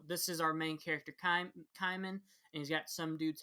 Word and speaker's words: Kaiman: But no, the first chapter is called Spell One Kaiman, and that's how they pronounce it, not Cayman, like I thought it would be.